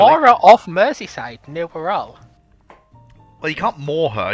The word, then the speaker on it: Wirral: who was from the Wirral. So it's sort of a case of I've always been taught Wirral, and any other pronunciation got me in trouble.